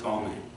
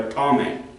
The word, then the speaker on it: Ptolemy: that was presented by Ptolemy. It's spelled P-T, not starting with a T. I don't know why it starts with a P, but Ptolemy starts with a P. P-T.